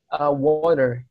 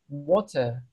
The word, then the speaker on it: water: Kalau di American English kan mereka nyebutnya water, the air is roll. Jadi kalian tuh kayak menggulungkan lidah pas nyebut R itu. Sementara kalau di British English, mereka tuh cenderung nggak mempronounce huruf R yang sama sekali. Jadi water, kayak R-nya itu silent gitu, teman-teman.